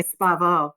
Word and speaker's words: Espavo: are not pronouncing it wrong. You are pronouncing it. It sounds very much a Spanish word. So I appreciate you pronouncing it, in my opinion, properly.